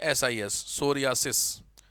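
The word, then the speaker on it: psoriasis: ए एस आई एस सोरियास P silent है इसमें सोरियास इसमें सिंपली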